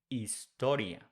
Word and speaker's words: historia: The same thing with H. We don't pronounce H in Spanish. So instead of saying historia, we say historia.